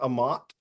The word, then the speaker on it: Amat: is wrong but um Bishop Amat I I guess is where you went to school right that's how I pronounce that yeah yeah you could you got it okay and um uh